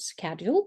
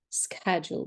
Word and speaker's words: schedule: words about the word schedule because in British English we have to pronounce it like schedule but in American English that schedule so what does it